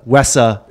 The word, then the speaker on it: WESA: you guys were joining Weesa or as I'm told wesa pronounce it nowadays I always said we said overnight it seemed like